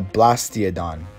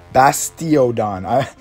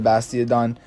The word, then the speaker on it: Bastiodon: up is going to be the Blastiodon. Did I completely mess that up? Yeah, I'm pretty sure I did. Yeah, it's Bastiodon. I could be saying it wrong.